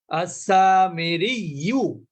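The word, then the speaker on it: السامري: যেমন আল মুস্তাকররু আছে, এখানে আপনি থেমে গেলে ওই শুধু তাজদিদই পড়বেন, আল মুস্তাকর। আস-সামিরিয়্যু, আপনি থেমে গেলে কি বলবেন, আস-সামিরি, আর ইউটা বলবেন না।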